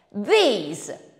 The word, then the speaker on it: these: come V F These These invece si pronuncia con un suono più lungo lo stesso suono che troviamo in parole come Beat feet these Ma non finisce qui perché anche sul finale abbiamo delle differenze mentre this finisce con la s di Snake these finisce con zd zo ci avevi mai